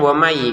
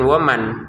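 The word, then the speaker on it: وَمَن: Jadi dibacanya wami gitu ya, jangan waman karena nun sukunnya kita masukin ke ya.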